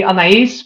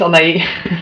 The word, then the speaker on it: Anaïs: It's Anaïs, but Anaïs. it like I think as a French person would cringe because it is actually Anaïs, but Okay. for me it's Anaïs. Anaïs.